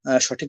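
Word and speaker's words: ث: তো উচ্চারণ করলে আপনারা সঠিক উচ্চারণ শিখতে পারবেন না। এখন আমি সাটা পড়িয়ে দেব 3 বার, এরপরে আপনারা বলবেন। আচ্ছা। জিহ্বাকে সামনের যে 2টা দাঁত আছে ওর সাথে মিলিয়ে হালকা করে ছেড়ে দিবেন।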